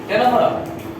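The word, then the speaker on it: Ctenophora: देखो अभी एक चीज याद आया हमको, किसका? टेनोफोरा। सी साइलेंट।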